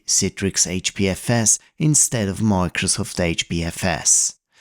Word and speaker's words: Citrix: It's pronounced as Citrix, you babbling baboon. Not Citrix or Citrix. Citrix.